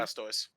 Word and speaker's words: Blastoise: the Blastoise, I don't know Pokemon, is that pronounced right? The Blastoise? Yeah, Blastoise.